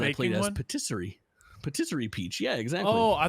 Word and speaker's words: patisserie: as Patisserie Peach. Yeah, exactly. Oh, I thought So it I said got to play- rotisserie peach.